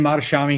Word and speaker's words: Mohtashami: Well, we have Mohtashami here. Did I pronounce that right? Yeah, better than most people. Mohtashami here from Housing Wire.